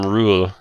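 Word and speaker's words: Ruul: So, with the name Rule, you would know that it's spelled R-U-U-L. Oh, And- rule. Yeah, like Oh. ruler, but not Yeah.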